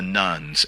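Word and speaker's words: nones: to refer to as the rise of the nuns. N O nees. And so I I I always have to spell that out. And I'm I'm getting to the point now where I don't even really need to spell it out anymore, but it's N O N.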